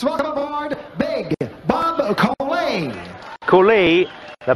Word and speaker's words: Colay: Cooley, la pronuncia corretta, 101.7 al peso, invece Tyson è arrivato a 98 kg e mezzo.